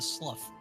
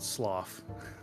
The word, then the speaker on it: slough: connected anything and it wasn't moving that's a Slough cuz a SLU is a river that's stagnant that's a weird word and I don't want to ever hear it again I I always pronounced it sloth you know how it's you know how it's